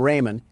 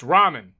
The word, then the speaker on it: ramen: Door Dash is on its way to deliver some Raymen and I don't want to spill any around the pyramid floors. Uh, it's pronounced ramen.